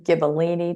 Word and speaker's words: Gibellini: You also talked about how you're moving along your Gibellini, did I pronounce that right, vanadium project?